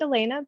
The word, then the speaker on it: Elena: um also my um my my name's actually pronounced Elena but everybody makes that confusing mistake so it's all all